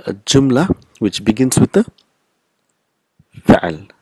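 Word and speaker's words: جملة: Jumlatun, but we will pronounce it jumla. So last letter is not pronounced.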